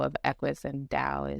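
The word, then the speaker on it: Tao: and Linda kohana the Dao of Equus and Dao is spelled t-a-o so um those books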